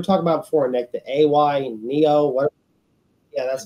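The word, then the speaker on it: AYANEO: that that you're talking about before nick the a y neo what yeah that's how you pronounce it they're also coming out with a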